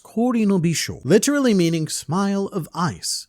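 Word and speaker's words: 氷の微笑: The kanji portion is pronounced Kori no Bisho, literally meaning smile of ice, and this is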